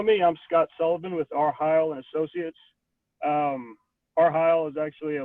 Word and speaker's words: R.Heyl: Is it R.Heyl? R.Heyl, yes.